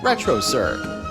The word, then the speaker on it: Retrocirq: Look for them on YouTube under Retrocirq, spelt with a Q at the end. Retrocirq, where the Q is not quiet.